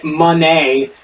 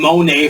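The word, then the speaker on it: Moné: at um Mercedes now they're saying mon Monee when they were saying Monae for so long and now they've changed it so Mercedes Monee but it's not spelled Monee they kind of got the accent on the wrong spot for it to be that but against Willow Nightingale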